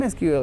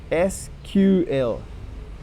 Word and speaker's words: SQL: The name SQL is correctly pronounced SQL instead of somewhat common SQL.